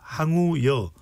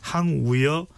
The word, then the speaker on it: 황우여: 당선인 총회가 열렸는데 비대위원장 우여 우려로 하면 안 되죠 항우 여로 발음을 해야 되죠 그죠 황우여 상인 고문입니다 어떤 평가입니다